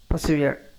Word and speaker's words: persevere: இது ஏன் நான் பசிவியர்னு சொல்கிறேன்னா, இடையில வந்து ஆர் வந்தால் அதை வந்து நம்ம சைலண்டாக தான் நம்ம வந்து உச்சரிக்கணும், ரொம்ப அழுத்தம் கொடுக்கக்கூடாது. ஸோ அதனால் வந்து இதை பசிவியர் அப்படின்னு நம்ம சொல்லலாம். ஆர் வந்து லேசாக உச்சரிக்கணும்.